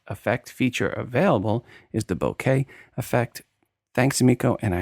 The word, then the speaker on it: bokeh: The word is bokeh, not bokeh, like cellular, and lots of photography people mispronounce it.